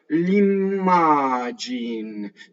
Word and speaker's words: l'immagine: L'immagine. See how we do the M? You have to phonate it.